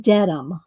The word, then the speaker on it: Dedham: place in is Dedham, even though it's written Dedham. It's pronounced, according to Dot, who's lives, she's a Brit, says it's pronounced Dedham.